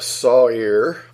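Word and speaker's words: sa'ir: word site here which is sa I are pronounced Sawyer that's strongest number 81 63 a he or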